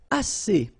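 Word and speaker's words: assez: all right and then a a means enough okay a remember two vowels here a and then uh and then double s so it's really strong the s a a okay a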